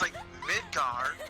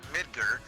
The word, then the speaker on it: Midgar: There's two different ways. There's Midgar, which is apparently the right way to say it, or Midgar.